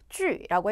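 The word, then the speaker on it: 聚: 주라고 해 주시면 되고요 제 뒤에 있는 유 같은 경우는 우리 유 땡땡 발음입니다 항상 기억하셔야 되는 거 우리 J 그다음에 Q 그다음에 x 뒤에 붙어 있는 유는 점점이 없더라도 위 발음해 주셔야 됩니다 그래서 모이다 모다 중국어로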